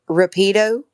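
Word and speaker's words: rápido: fast in Spanish uh they say Rapido but it's Rapido so the accent is on the A and not the I but in in you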